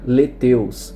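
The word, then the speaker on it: lethaeus: Uma é o nanotiranos lancenses e a outra é o nanotiranos letaios, né, que se pronuncia leteus.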